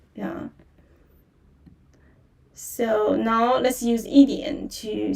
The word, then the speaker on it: yi dianr: e dianr or yi dianr d i a n dianr dianr yi dianr wo hui shuo yi dianr and there's r sound in the end.